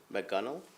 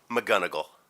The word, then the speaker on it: McGonigal: Staff Sergeant Darcy McGunnell, is that how I pronounce it? McGonigal. McGonigal.